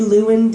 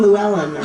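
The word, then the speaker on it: Llewyn: a fantastic movie called and i'm going to pronounce it wrong i'm sure inside lewin davis you got it right i did yeah i was saying llewellyn yeah a lot of people say llewellyn but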